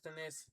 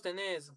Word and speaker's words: tenés: en tercera persona singular acentuado en la última sílaba. Vos tenés, vos respondés. Vos tenés, vos respondés.